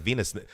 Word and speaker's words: Wiener: accent right there like Venus because it's Venus schnitzel with Venus schnitzel they don't say w like how do you say